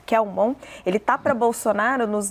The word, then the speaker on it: Kelmon: Ele diz que o padre Kelmon, é assim que se pronuncia? Kelmon, ele está para Bolsonaro nos debates de 2020, como esteve para o próprio Bolsonaro o Cabo Daciolo em 2018.